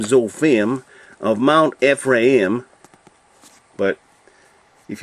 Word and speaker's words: Zophim: But in Hebrew, they always put the emphasis on the last syllable. So this would actually be zophim.